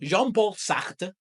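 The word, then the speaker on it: Jean-Paul Sartre: John Paul Sacht, si lo quieres pronunciar bien mamador en francés, mi libertad termina dónde empieza la de los demás.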